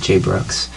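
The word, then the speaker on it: Jai Brooks: I think you pronounce it Jay Brooks.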